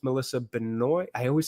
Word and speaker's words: Benoist: I believe it's Melissa Benoi. I always say her name wrong. Is it Benoy or Benoy? Benoy, I think. You do pronounce the S, right?